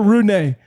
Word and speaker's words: Rune: Holger Rune.